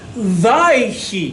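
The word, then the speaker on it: ויהי: Vaihi. Va, and Yehi. But it's pronounced Vaihi. Everyone say Vaihi.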